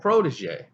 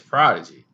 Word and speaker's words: Prodigy: and they called him his name is spelled protege you know he was like nah he's prodigy and that's a little